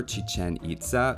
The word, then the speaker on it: Chichén Itzá: For the Mayan wonder, you might have expected they go for Chichen Itza, or Chichen Itza if you prefer the Spanish pronunciation, but that's definitely not the case just looking at the stairs.